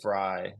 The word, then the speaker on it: Vrij: Yeah, so his last name is spelled Vrij, Fry.